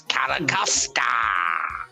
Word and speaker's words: Carracosta: Come on, it's Carracosta. Roll your R's. You gotta really, really kind of like throw it out there.